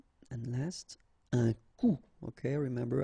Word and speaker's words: coup: Un coup. And then un coup. Alright, so you can see that you get this final P here, but then you don't pronounce it. And last, un coup.